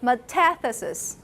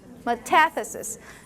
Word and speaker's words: metathesis: term it's called metastasis stress is on the second syllable metathesis metathesis remember in the future it doesn't matter which language you want to learn you want to know where the stressed syllable is that will get you the right position metathesis it reorder the